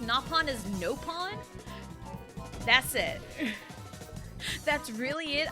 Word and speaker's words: Nopon: Elma that's really it and I know they pronounced napon as nopon that's it that's really it I know nothing